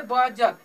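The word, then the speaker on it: budget: तो इसका उच्चारण हम इसे बजट कहेंगे, बजट नहीं कहेंगे, ठीक है। इसे क्या पढ़ेंगे? बजट, ठीक है।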